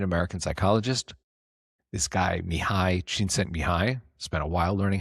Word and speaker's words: Csikszentmihalyi: So there was a Hungarian American psychologist, this guy Mihai Csikszentmihalyi, spent a while learning how to pronounce it properly.